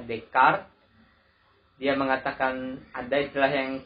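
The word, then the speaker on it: Descartes: dimulai oleh dekat Rene day care tulisannya dkayed ketoprak pergi tapi kita bacanya dekat ia mengatakan ada istilah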